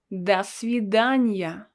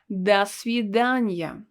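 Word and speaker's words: до свидания: person you will say dasidanya notice that we pronounce it all together and this letter o is pronounced as ah because it's not stressed das vidanya and this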